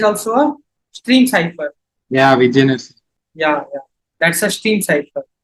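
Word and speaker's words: Vigenère: it's a stream cipher, and that how you pronounce that? Vigener, that cipher, that is also a stream cipher. Yeah, Vigener.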